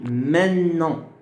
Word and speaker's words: maintenant: On dit maintenant. Maintenant. C'est-à-dire, on ne prononce plus le T. Le T disparaît. Le T disparaît. Ça devient maintenant. Maintenant. Et on appuie sur le N.